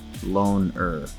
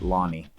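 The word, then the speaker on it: Lone'er: And his name is like Lone but they pronounce it Lonnie.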